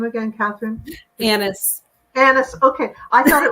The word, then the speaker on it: Annis: So yeah, it's Annis, and it's been mispronounced my whole life, but I can promise you I am not a rectum. No, I knew it was Annis because my boss, he was Greek and he